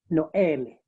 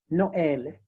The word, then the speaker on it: Noël: And this means that whenever this accent is used, you are supposed to pronounce the affected syllables or independently. For example, on the word Noël, Noël, or maïs, yeah, Noël, that is for Christmas, Noël, and maïs for maize.